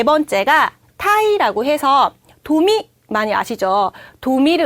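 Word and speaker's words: 鯛: 타이, 하이. 타이. 다시 한번 읽어볼게요. 타이, 하이. 타이. 네, 자, 요 타이는 제 맘대로긴 하지만 운율을 하나 드려볼까 해요. 넥타이의 타이랑 발음이 똑같죠?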